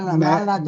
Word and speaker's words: malady: That this woman, 이 여인은 was really cured of her malady. 멜은 나쁜이라는 뜻이에요. 나쁜, 멜로디는 나쁜 증세, 병세, 아, 그래요? 병세를, 발음이 음악 할 때 멜로디하고 no, 비슷하다. no, 말라디.